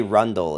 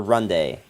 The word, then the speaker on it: Runde: in in uh Beane die Rundle is how you say uh or Runde I keep putting an L in there but besiege Jinx oh